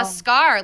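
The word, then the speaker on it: Skaar: frees from space so it's two A's pronounced like it's only one oh of course of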